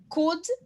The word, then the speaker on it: could: Could, cold. Could, cold, tá? Tem um UL, então could e cold, tá? Essa é a diferença de pronúncia.